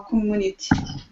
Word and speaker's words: community: in in the local community absolutely community Community good Comm Community careful because all the U's in English are really EU Comm community community T